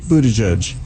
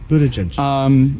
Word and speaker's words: Buttigieg: So, some of the other candidates, Pete Buttigieg, and that's how that's pronounced. It doesn't look like that at all. It doesn't at all. Buttigieg.